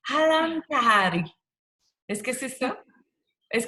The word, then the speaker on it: Ahlam Tahari: Je suis avec, là, j'espère que je vais bien le prononcer, Halam Tahari. Est-ce que c'est ça? Est-ce que je le prononce bien? Oui, oui, Ahlam Tahiri, exact.